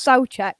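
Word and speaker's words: Souček: got our opinions um i'm being told it's pronounced soul check i i do apologize um so check um right so that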